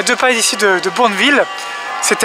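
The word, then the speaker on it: Bournville: route pour B village le village de boureville prononcé à la française et qu'est-ce que c'est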